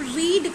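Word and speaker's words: read: तो यहाँ पर हम रीड की जगह रेड का प्रयोग करेंगे, मतलब उसको प्रोनाउंस करेंगे रेड, ठीक है।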